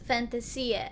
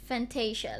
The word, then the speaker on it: Fantasia: Fantasia, and it is pronounced Fantasia. Yeah. And not Fantasia, like I thought it was supposed to be.